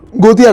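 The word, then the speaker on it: Gothia: आपने इंडिया को रिप्रेजेंट किया गोटा गोठा ना गोतिया कप गोटिया गोतिया कप है वो गोठा लिखा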